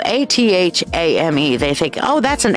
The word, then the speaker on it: athame: energy through many people look at this and it's spelled a-t-h-a-m-e they think oh that's an a thing that's an a thing a thumb a Fame